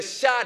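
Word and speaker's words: Shah: il a renversé le chat d'Iran Mohammed Reza palavi j'ai pas dit chat que vous avez dans vos maisons le chat s'écrit ici s H a H qui signifie roi le chat d'Iran Mohamed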